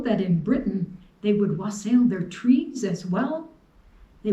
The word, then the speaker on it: wassail: solstice was to make a special drink called wasel sometimes pronounced wassel wassel means good health they would say wassail as they toasted each other like saying cheers when